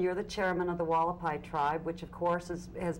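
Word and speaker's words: Hualapai: Okay, the tribe's name is pronounced Wallapai.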